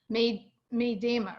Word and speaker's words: Medema: want to pronounce some edema but it's it's pronounced made me Deema right yeah that's it made um I actually